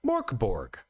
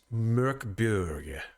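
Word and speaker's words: Mörk Borg: at it and go, Morkborg. We were schooled by the master himself, Jesper Nilsson Siren, who told us as a Swede, it is actually pronounced Mörkborg.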